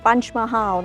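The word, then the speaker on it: Panch Mahal: ปัญจ มาฮาว นะ คะ ปัญจะ คือ 5 นะ หรือ ว่า ออก เสียง แบบ เขา ก็ คือ punch mahal นะ คะ ซึ่ง มัน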